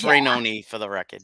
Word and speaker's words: Rainone: And I get your name right, even though all my relatives say Rainone. It's spelled, yeah, I answer to both. It's good, but it's Rainone for the record.